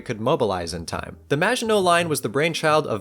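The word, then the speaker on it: Maginot: line became his namesake now I know that I pronounced magino somewhat correctly and then in the same sentence I called the wall the majino line but I'm just going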